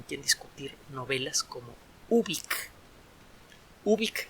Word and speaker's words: Ubik: Ubik se escribe como suena, con U, con B grande, luego una I latina y luego una K. Ubik.